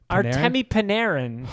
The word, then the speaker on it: Artemi Panarin: How did you just pronounce his name? Artemi Panarin? Artemi Panarin.